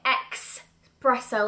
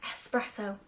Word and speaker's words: espresso: brand new color espresso I thought you said it and spell it expresso like exercise espresso I've always said it like that who knew it was espresso no X Double S I